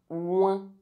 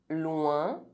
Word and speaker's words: loin: OIN is pronounced loin, loin, point, soin. Coincé.